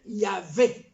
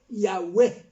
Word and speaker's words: Yahweh: celui qui existe d'éternité en éternité, éternel, dont on ne peut pas prononcer les noms, YHWH, que pour arriver à les prononcer, on dit, bon, appelons-les Yahvé, Yahweh.